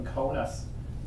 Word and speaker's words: Kaunas: also at the University of Kaunas, or to pronounce it properly, Kaunas, which is the second largest city in Lithuania.